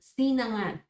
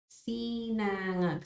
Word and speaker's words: sinangag: how to pronounce, but sinangag. Sinangag. So sinangag. I guess there's a difficulty on how to pronounce this NG since we have NG in our alphabet.